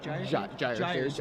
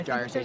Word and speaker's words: Gyre Sage: Gyre Sage, I believe is the correct pronunciation.